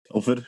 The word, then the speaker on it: Telford: Telford, yeah.